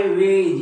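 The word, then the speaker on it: wedge: हेज आहे हे हा वेळ नाही हा आहे वेज या वेज समजते तुम्हाला म्हणजे जी च्या अगोदर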